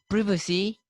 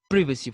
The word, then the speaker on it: privacy: Similarly, the Britishers say privacy, it is privacy for them.